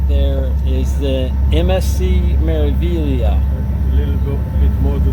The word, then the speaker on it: Meraviglia: And it's actually pronounced MSC Meraviglia.